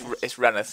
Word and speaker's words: Rainworth: And that's Rainsworth that she lives in, or Reneth. If you're local, it's Reneth, yeah. Reneth. It's Reneth, even though it's not spelt Reneth. No, it's spelled Rainworth.